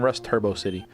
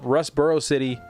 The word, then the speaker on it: Rustboro City: I keep saying Rust Turbo City. I said that when I was a kid, but Rustboro City is what it's called.